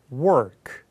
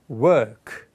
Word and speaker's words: work: 다시 일하다. 북미 발음 work. 영국이나 호주는 work.